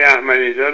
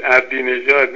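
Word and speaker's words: احمدی‌نژاد: اتفاقا تلفظ آقای احمدی نژاد هم میگفتش که محمود عبدی نژاد، نشون میده که آقای پامپیو.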